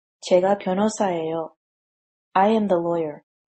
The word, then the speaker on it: 제가: This is because Korean people find it easier to pronounce the pronoun plus subject marker as 제가 instead of 저가.